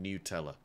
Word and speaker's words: Nutella: is what I've been dunking into my uh Nutella or newella they the apparently the company pronounces it newella so that's the way it should be pronounced